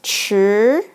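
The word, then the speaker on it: 驰: It pronounced like 吃.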